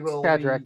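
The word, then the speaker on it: Cadrach: in that sense um uh how do you pronounce names uh that's FR frier father Kadri Kadri you know patri kadra kadra yeah kadra the monk the drunken monk uh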